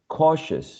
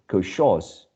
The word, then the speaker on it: cautious: you uh pay attention this last syllable is never stressed no one says ambishus or koshos so as this is